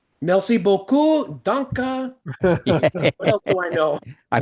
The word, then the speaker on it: Dankjewel: How do So, you noticed when I said my Nether Dankjewel.